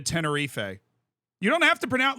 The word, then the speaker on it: Tenerife: issue is not with actually my issue is with people that say tenie yeah like actually because why like it's not I'm not saying it in Spanish I'm not saying like bamos alif I'm saying like yo we're going to Tenerife you don't have to